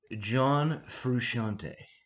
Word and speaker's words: John Frusciante: this is the uh correct pronunciation of john fusciante all right this is how you do it john frusciante thanks